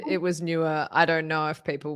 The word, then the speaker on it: Neewer: answer oh no okay newer no you don't get to have a silent e no no new newer